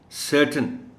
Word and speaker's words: certain: दूसरा, ये जो TAIN वाला पार्ट है इस वर्ड का, इसको प्रोनाउंस करना है T और N को मिला के. आप यूँ समझें कि TAIN में A और I नहीं है. So please listen to me when I pronounce the word. The word is certain.